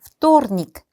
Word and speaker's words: вторник: 여기서 발음이 어려운 게 있다면 요 화요일, вторник, V 알파벳으로 시작을 하지만 발음을 할 때는 F 발음을 하셔야 돼요.